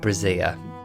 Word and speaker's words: Brazier: published by Professor Richard Brazier. Now, there's a good chance that his surname is correctly pronounced Brazier, but I, very respectfully, am going to call him Professor Brazier.